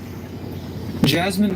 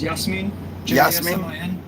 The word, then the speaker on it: Yasmin: I can spit that not name Jasmine don't go once again guys my bosan name is Yasmin that's how you say it that's exactly how it